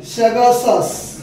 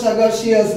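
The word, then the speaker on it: sagacious: দেখো শব্দটা হচ্ছে স্যাগাসাস, অনেকে উচ্চারণটা স্যাগাসিয়াস বলে, স্যাগাসাস উচ্চারণটা, যার বাংলা মানে কি, এটা সিনোনিম, যার বাংলা মানেটা হচ্ছে বিচক্ষণ, বুদ্ধিমান, বিচক্ষণ, এরকম টাইপের কাছাকাছি।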